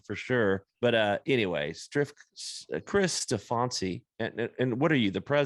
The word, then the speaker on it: Steffanci: That's just what I do, is mispronounce names. So it's Steffanci.